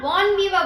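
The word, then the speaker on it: bon vivant: इसको हम बॉन वीवा बोल के प्रोनाउंस करते हैं।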